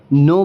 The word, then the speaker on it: know: कि वॉवेल है, तो यहाँ पे भी हम नो पढ़ेंगे, ना कि इसे कोनो पढ़ेंगे।